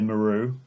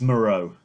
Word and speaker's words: Moreau: Um, we also Just because have my boy Maru. yeah, Moreau. he has written many fan fiction about He's Maru. he's my Morale. favorite. I want to say his name still. It's Moreau.